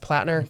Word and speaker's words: Platner: Is it pronounced platner?